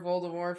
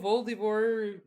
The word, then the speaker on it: Voldemort: mort i've been waiting voldemort i hate it when people pronounce the t it hurts me does it yes does it really it does i've been waiting for voldemort for so long then